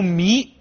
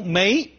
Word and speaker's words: 糜: 这么注，说作为姓，做姓氏读迷，作为一种植物一种谷物读梅，有两个读音。